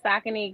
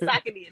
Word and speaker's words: Saucony: So for me, I started saying Saucony because once I started posting content and I'm tagging them, I'm like, let me say it correctly.